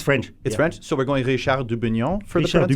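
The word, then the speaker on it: Dubugnon: So we're going Richard Dubignon for Richard the pronunciation? Dubignon.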